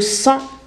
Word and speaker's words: sang: عندنا le sang, on prononce pas le G.